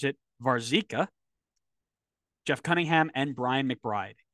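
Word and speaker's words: Warzycha: Brian White Robert as I've now learned to pronounce it varzika Jeff Cunningham and Brian McBride and they found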